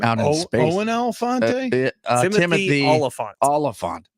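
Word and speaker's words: Olyphant: Oh, his name is spelled with an O. Oliphant. Oh, not elephant.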